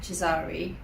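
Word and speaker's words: Chizari: even been called sahara my surname is also often mispronounced so my surname comes from the borough in tehran that my family originates from chizar so i'm a chizzari during my graduation my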